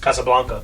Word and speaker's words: Casablanca: Valentine's Day is showing cassablanca hell yeah it's pronounced Casablanca CA Blanca that's what